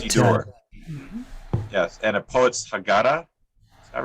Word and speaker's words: Haggadah: Yes, and A Poet's Haggadah.